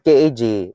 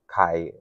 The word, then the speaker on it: Kaj: It's Kai because in Philippines we pronounce it like the letter also.